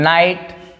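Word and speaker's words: night: रहे है बस कि अगर आई के बाद जीएसटी आए आई के बाद क्या है जीएसटी आए तो यहां पर भी आई को हम आई पढ़ते हैं नाइट माइट लाइट साइट यहां पे ये साइलेंट होता है यहां पे क्या होता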